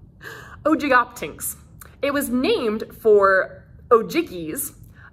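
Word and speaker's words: Ogygoptynx: generally accepted as oldest is ogoptanks there's a pronunciation guide here's what it looks like oh jig optings it was named for ojikis the greek mythical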